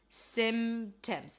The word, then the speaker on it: symptoms: P, in this case, you can drop it. Symptoms, if it's easier for you. If it's harder for you and you want to keep the P, keep the P, okay? Symptoms or symptoms, but make it subtle. Small, tiny, soft.